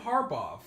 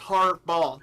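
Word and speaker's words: Harbaugh: I said it wrong I feel like it his name doesn't end in a V it's just har B okay the STA Stafford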